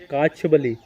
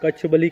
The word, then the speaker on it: कच्छबली: और काछबली, आप main station ध्यान रखिए, काछबली या कच्छबली, यहाँ के लोग कच्छबली कहते हैं, हम लोग को बोलने में प्रोनाउंसिएशन ऐसा है तो काछबली बोलते हैं अपन।